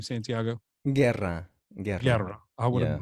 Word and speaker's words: Guerra: Guerra. I would have butchered that, so I'm glad I asked.